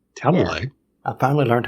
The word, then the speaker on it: Talalay: Talalay.